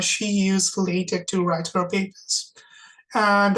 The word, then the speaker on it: LaTeX: So we use a programming language called LaTeX. That's LaTeX, and it's not pronounced latex. It's pronounced LaTeX.